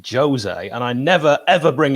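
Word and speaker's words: José: Where you call him you call him Jose, where it's Jose, and I never ever bring it up.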